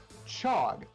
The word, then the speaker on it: chog: me as well uh we're going to chant chog which is spelled c h o g um so